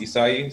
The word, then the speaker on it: Issaei: It's pronounced Issaei.